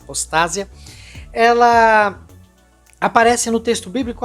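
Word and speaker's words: ἀποστασία: E lê-se apostasia mesmo, apostásia, né? Para ser mais precisa, a pronúncia correta seria mais ou menos essa, apostásia.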